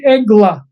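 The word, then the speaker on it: עגלה: And then the word for a calf is egla. So it's very similar. It's the same letters, different pronunciation.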